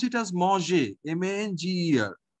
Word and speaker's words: manger: Okay, so we pronounce it as manger, M-A-N-G-E-R, manger.